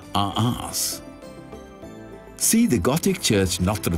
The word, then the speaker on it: Reims: The French, of course, pronounce it as Arras.